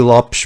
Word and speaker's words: Lopes: Lopez, that guy who you may recall. I thought it's T. Lopes. Is that the correct pronunciation is technically T. Lopes, but go ahead, continue.